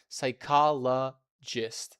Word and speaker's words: psychologist: Psychologist. Psychologist. Psychologist. That's how we pronounce this word. The key thing to remember is that P is silent.